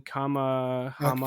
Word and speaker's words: Kamehameha: Can you know how to pronounce it? It's King Kamehameha.